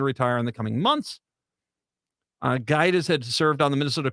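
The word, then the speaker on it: Gaïtas: Gaitis, G-A-I, but it's the I with the 2 umlauts on it, a T-A-S. Gaitis, I think it is how you say that.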